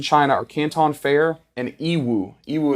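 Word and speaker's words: Yiwu: are Canton fair and ew euu it's spelled y i Wu and you can literally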